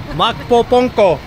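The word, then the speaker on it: Magpupungko: All right, we're gonna check out the Makpo Putango. How do you pronounce that one? Makpo Ponko.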